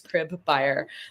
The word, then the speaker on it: Cribeyer: So, that's how I tell people how to remember to pronounce my last name is crib buyer.